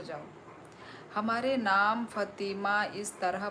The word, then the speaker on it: फ़ातिमा: हमारे नाम फ़ातिमा इस तरह प्रोनाउंस किया जाता है।